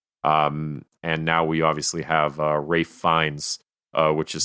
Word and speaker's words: Ralph Fiennes: And now we obviously have Ralph Fiennes, which is spelt neither Rafe nor Fiennes, as M now.